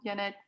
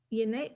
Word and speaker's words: Janet: Sorry, I can't hear you at all, Janet. Yanette, you don't appear to be muted, but we're not hearing anything from you.